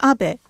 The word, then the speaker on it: Abe: to the White House my name is Abbe but in the United States some people mistakenly pronounce my name as ape but that is not